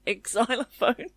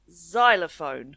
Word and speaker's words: xylophone: And for a long time I thought it was an exylophone when I was a kid, but I've learned since it's xylophone.